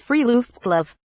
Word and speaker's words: friluftsliv: of what Scandinavians call for left Slav pronounced free loops love the expression literally translates